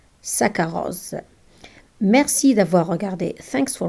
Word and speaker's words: saccharose: When we have double C and H, we read them K. For example, saccharose, saccharose.